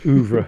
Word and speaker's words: oeuvre: Do you pronounce it oeuvre? Yes, oeuvre. Oeuvre.